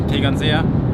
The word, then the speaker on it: Tegernseer: I don't know if I should try and pronounce this, but I will. Tegernseer Hell. Hey guys, it's called Tegernseer.